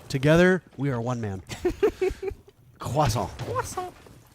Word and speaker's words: croissant: I did have a coffee, but no croissant. Look at that. Together, we are one man. Croissant. Croissant. We got corrected by our French producer in our ear for overpronouncing croissant.